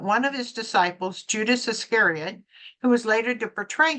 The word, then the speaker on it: Iscariot: Iscariot. Iscariot.